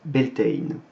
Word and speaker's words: Beltane: passe à beltane alors ben elton c'est une version moderne anglaise d'un mot issu du gaélique irlandais dont on parlera juste après donc beltane puisque ces deux langues les modernes ça se prononce bentein et le mot en